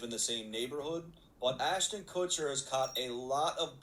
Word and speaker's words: Ashton Kutcher: Why say it like that? Ashton Cooker. Ashton Kutcher.